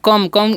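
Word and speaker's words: come: कम, इसे हम क्या पढ़ते हैं कम पढ़ते हैं, क्योंकि यहाँ पर भी वोवेल कॉन्सोनेंट वोवेल वाला रूल लागू होगा, तो क्या हो जाएगा, कम ओ का उच्चारण होगा, ई का नहीं होगा। तो इसे कम पढ़ते हैं।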